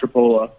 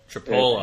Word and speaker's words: Tripoli: It's pronounced Tripola. Tripola. It's pronounced not the way that it actually looks.